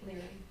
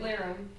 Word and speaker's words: Lyrum: Lyrum. I call him Larry. It's Lyrum.